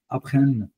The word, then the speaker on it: apprennent: Donc, avec troisième personne du pluriel, on ne prononce pas la termination. C'est comme apprennent. OK? On va justement dire jusqu'à ici, apprennent. C'est tout. Oui. On ne va pas prononcer les derniers ENT.